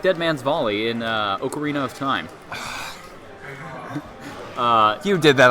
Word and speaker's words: ocarina: That's how the It's Italians say it. Ocarina. No. See, man. See, you got to say it like the Italians.